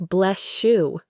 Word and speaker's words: bless you: The same thing happens with bless you which sounds like bless shoe.